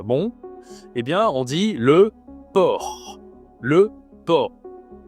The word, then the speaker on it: porc: Bon et bien on dit le port. Le por. Il y a un c à la fin mais tu ne prononces pas le c.